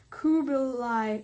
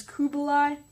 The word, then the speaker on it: Kublai: forces were directed by Kublai Khan who I'm sorry I've been saying as Kubo lie it's actually Kubla so yeah as the